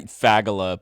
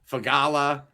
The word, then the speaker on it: Fagala: How do you pronounce your last name, Kyle? Man, I faggala, believe it or not, just go for it. Yeah, I think I was calling you uh Fagala.